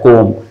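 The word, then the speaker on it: comb: एम में म sound कोम में एम और बी दोनों है लेकिन सिर्फ एम को पढ़ा जाता है कोम राइट तो एम बी के लिए एम साउंड कॉलम में एम और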